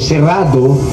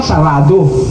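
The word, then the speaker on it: cerrado: Ang tamang pronunciation serrado. Mga ninuno natin, di marunong talaga Kastila, ginawa sarado.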